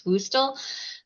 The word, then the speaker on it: WUSTL: WUSTL, we pronounce WUSTL.